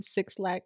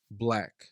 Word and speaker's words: 6lack: It is pronounced Black. Okay, I used to call him Six Lack, like probably anybody else that didn't know for sure.